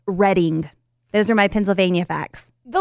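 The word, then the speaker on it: Reading: My Pennsylvania fact, by the way, is that Danny lives there and it's pronounced Redding.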